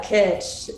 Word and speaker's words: kitsch: i go through this website i'm like it kitsch is that how it's pronounced yeah kitsch yeah there have been a few times where